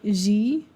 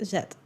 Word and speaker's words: zed: like zed or like zed. We do pronounce one letter in the alphabet a little bit differently. At the end of the alphabet, we have the letter zed. We do not say z.